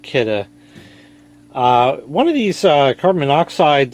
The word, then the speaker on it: Kidde: That's right, it's pronounced Kidde.